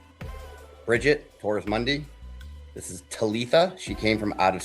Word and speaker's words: Talitha: This is Talitha. She came from out of state as well. Oh, you said it right. Look at Yeah, you. I finally got it. Yeah. I was saying Talisa. Talitha, yeah.